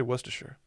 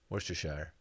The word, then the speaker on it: Worcestershire: with a brown paper wrapping oh i say worcestershire worcestershire oh dylan worcestershire what's it what's proper i'm not sure i've always just said worcestershire worcestershire worcestershire that's a kid i just said